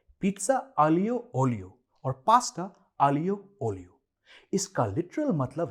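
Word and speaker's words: aglio olio: India के कई Italian menus पे आपने देखा होगा पिज्जा आलियो ओलियो और पास्ता आलियो ओलियो। इसका लिटरल मतलब है गार्लिक एंड ऑयल और इसका सही उच्चारण है आलियो ओलियो।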